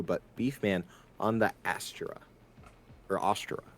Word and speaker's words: Astra: that that asent uh I say Astra but I get told it's wrong every time so oh well you know what that's okay Astra is the way everyone else pronounces it but I um I am my opinions because I had a song in choir that we had to do that pronounced the asra so I will hold that to my grave that's how it's pronounced and everyone can fight me for it if they want